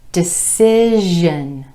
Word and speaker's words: decision: Well, SION is pronounced jeune when the ending comes after a vowel or an R. So for example, decision, decision. Our ending comes after the I vowel, and so the pronunciation changes, but our emphasis is still on the syllable right before the word ending.